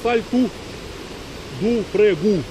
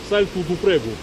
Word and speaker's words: Salto do Prego: Сальто, ну, о, это по-португальски у всегда читается, поэтому это сальту ду прегу, сальту ду прегу.